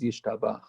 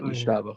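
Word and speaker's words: ישתבח: Which, by the way, the correct way to pronounce it is Yishtabach. Yeah, not Yishtabach.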